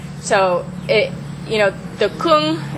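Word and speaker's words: !Kung: it you know the Kung it's actually pronounced Kung it's a explanation point And then the Kung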